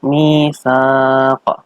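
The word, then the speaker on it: ميثاق: Ini adalah bacaan mad arid lis sukun, yaitu ada mad tabi'i yang di depannya ada huruf sebelum waqaf. Dibaca mati. Bacanya itu panjang 6 harokat. Wa bainahum misaq. Misaq. Qaf di situ adalah bacaan qalqalah kubro. Dipantulkan tebal.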